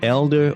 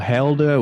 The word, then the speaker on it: Helder: I only just recently met Elder or Helder. We have to make sure we pronounce the H or not pronounce the H in Portuguese.